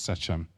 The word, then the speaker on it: Shechem: And interesting enough, the place, Shaun mentioned, it's called Shechem. Some translations pronounce it as Sechem.